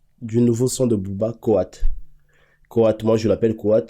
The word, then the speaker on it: KOA: Alors la famille, parlons donc de, du nouveau son de Booba, Koat. Koat, moi je l'appelle Koat, mais ça s'écrit K-O-A.